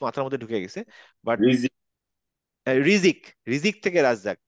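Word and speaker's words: رزق: বাট রিজিক। রিজিক, রিজিক থেকে রাজ্জাক, তো রিজিক হচ্ছে যা থেকে, রিজিক জিম দিয়ে না।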